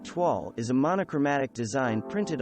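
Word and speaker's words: toile: from 18th century france tuoll pronounced tuall is a monochromatic design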